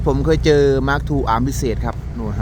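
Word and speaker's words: Mark II: มา ชม เจ้า SK045 Mark 2 กัน หน่อย Mark 2 นะ ครับ ไม่ ใช่ Mark True Mark True ผม จะ ออก เสียง ว่า Mark True อัน จริง ๆ ชื่อ ว่า Mark 2 นะ ครับ คัน นี้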